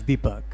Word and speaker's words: Deepak: name to explain this my parents don't pronounce my name right and so I have a North Indian name it's Deepak but they say debuck or my mother calls